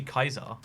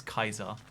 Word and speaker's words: Caesar: also Caesar or Brutus clearly Kaiser which is how you say that word by the way it's it's Kaiser for sure but um yeah so